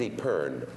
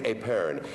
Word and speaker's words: epergne: If you saw an I think it's Epern.